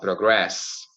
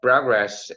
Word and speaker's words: progress: the pronunciation right because you can say progress and progress now progress is the noun so progress oh and progress is the verb right so you get